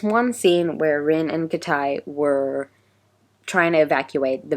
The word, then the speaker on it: Kitay: So I discovered that Kitay is not actually pronounced Kitay, it's Kitai. It's so weird. His name is actually Kitai.